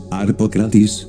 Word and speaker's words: Harpocratis: El nombre de Harpócrates es Harpócrates, pero como mantram es Harpocratis, Harpocratis, y entonces uno se concentra, Harpocratis, ahí lo grabo en esa grabadora, para que quede resonando.